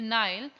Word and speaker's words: Nile: And third जो है नेल के साथ जो है वो लगेगा, नेल, नाइल। Both pronunciations are right here also.